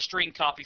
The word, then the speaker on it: strcpy: of functions available to the program including the string copy function to demonstrate the use of the string